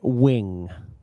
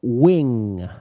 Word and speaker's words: wing: Wing. Wing. Yeah, that was it was not big enough. You sounded like win, not win. Wing.